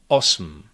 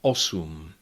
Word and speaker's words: osm: However, that is actually syllabic M in Czech, and it is sometimes pronounced in numbers 7 and 8. Sedm, osm, and words derived from these numbers, like sedmnáct, osmnáct, sedmdesát, osmdesát. Unfortunately, this goes only for very formal pronunciation of these numbers, and so normally you